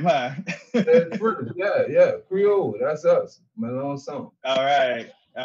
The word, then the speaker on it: Melancon: So the C is silent. And it's spelled like it's Melancon, like the okay. Like you said, Melancon, song. It's a real Creole name, huh? yeah, Creole. That's us, Melancon.